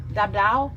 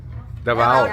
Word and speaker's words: Davao: Dabdao. Davao.